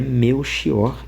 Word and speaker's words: Melchior: Ele vai dizer assim: "Tal como indica a grafia, o nome Belkior, variante de Mequior, é pronunciado com o X de mexer ou o ch de azeviche.